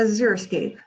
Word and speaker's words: xeriscape: at the x they don't let it throw you off it's pronounced like a z zero escape this is not a xeriscape this is a zero